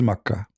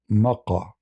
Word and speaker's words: Mecca: can be God, and this is Mecca. The same pronunciation. The Yemeni, they use the word, the letter Ka, in their language, it comes sometime as Qa. Mecca, Makkah. Mecca, Makkah.